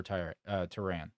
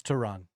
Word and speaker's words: Tehran: Um, but no, so this let's talk about the sightings over tan. Is it tran? It's tran. Tran. That's how you say it. I was screwing up how you pronunciate it.